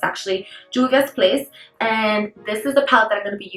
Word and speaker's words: Juvia's Place: It's supposed to be Juvia's Place, but in Spanish, it's always the J supposed to be like an H, so I think of Juvia's Place, but that's not what it is.